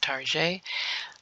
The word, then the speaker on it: Target: the next position is Target we all know Target some of you all pronounce it Tarjay but today is going to be Target and um this position